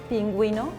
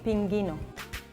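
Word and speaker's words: pingüino: only showing you that in some words the uh ooh has to be pronounced like in pinguino penguin pinguino because if you don't put that uh two dots it will be pingino juice uh in Spanish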